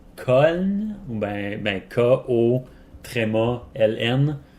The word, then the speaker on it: Köln: En gros, en Allemagne, Cologne se prononce Köln, ou ben K-O, tréma, L-N.